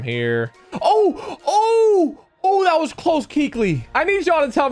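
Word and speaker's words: Kuechly: Oh, that was close, Keekly. I need y'all to tell me something, though. Who used to call him Coakley and Kookley? Who pronounced his name wrong the first time?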